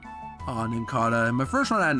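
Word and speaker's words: Nincada: It's Ninkata.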